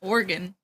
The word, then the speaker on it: Oregon: There's so many conversations about the proper pronunciation of Oregon that I like worry that I'm saying it wrong. It's just Oregon.